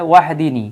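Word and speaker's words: وَاهْدِنِي: বাক্যের শুরুতে থাকার কারণে আর বাক্যের মাঝখানে থাকলে ইম্পারেটিভ ফর্মুলার হামজাতুল ওয়াসাল যদি থাকে তাহলে উচ্চারণ করতে হয় না সরাসরি অন্য শব্দের সাথে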